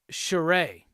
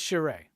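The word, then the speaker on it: Charest: choose the sign of you anyway yes it's pronounced charay okay so it is Travis Sharay thank you David Finch clarified it in a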